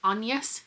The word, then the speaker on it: Agnes: Well, it is, but it's more Shakespeare's wife's story and or Agnes, I think pronounced On-yes here.